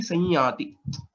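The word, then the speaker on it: संयति: Then the pronunciation will be Sanyati.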